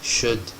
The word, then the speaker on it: should: word would Ellis Island should L is silent good so each of